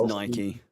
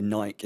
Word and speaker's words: Nike: only buy it on the Nike website though not on or Nike sorry um